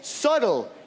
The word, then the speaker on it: subtle: En anglais, subtle. Il y a aussi un B, mais on le prononce pas.